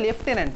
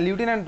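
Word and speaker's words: lieutenant: Similar হয়তো লেফটেন্যান্ট, লেফটেন্যান্টের মধ্যে এফ নেই। লেফটেন্যান্টের স্পেলিং কি বলতো? অ্যাকচুয়ালি তো লেফটেন্যান্টই বলে, হ্যাঁ লিউটেন্যান্ট বলে, ঠিক আছে।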